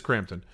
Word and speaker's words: Crampton: that's Barbara Crampton uh is it Crampton or Campton it's Crampton right I don't want to mispronounce I follow her on Instagram she would if she knew I existed she'd be upset it is Crampton uh but it's a